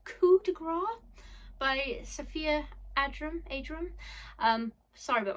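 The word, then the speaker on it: Coup de Grâce: I pronounced this wrong when I've talked about this book on my channel before, but it's Coup de Grace by Sophia Adram. Sorry about my pronunciation.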